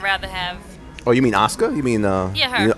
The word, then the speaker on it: Asuka: Do you know how many times I go to say Asuka when her name comes up, and I was like, no, it's Asuka. Yeah. The U is silent.